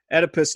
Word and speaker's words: Oedipus: Why did Oedipus never curse? Or Oedipus, however you pronounce his name. You got it right the first time.